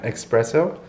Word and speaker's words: espresso: hard to say sometimes espresso espresso there's no x i i say that